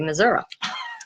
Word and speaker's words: Missouri: But what do you expect from places that call Missouri, Missouri? You know, I mean, it kind of goes to, makes sense.